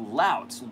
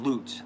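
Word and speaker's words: Laut: Lout. It's not Loot. That would be a horrible name for a company. But L-A-U-T.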